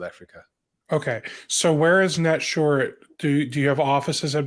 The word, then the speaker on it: Netsurit: and Oren is the co-founder and CEO of net short is that the right way to pronounce it perfect I like hearing that um